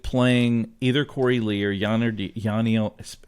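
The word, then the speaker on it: Yainer: either Corey Lee or yanio pronounce that for me I was having trouble yiner thank you yeah like Shiner okay I got that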